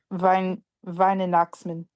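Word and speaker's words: Weihnachtsmann: W is pronounced like a V. okay. Venchitsman? I don't know. Not Noxman. Then Noxman? Yeah, Vine and Noxman.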